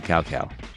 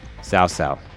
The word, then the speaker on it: Cao Cao: And now we're gonna finish off this battle by killing Cao Cao. Cao Cao. Wow. Cao Cao.